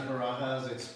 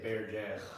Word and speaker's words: Barajas: My last name is Barajas. It's Spanish, like Spaniard Spanish. But some people at my job don't know how to say it, so they say Bear Jazz.